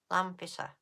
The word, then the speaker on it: Lampeter: Lampeter. That's how it's spelt.